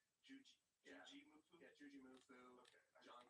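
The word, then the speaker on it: Jujimufu: Yeah, Juji Mufu.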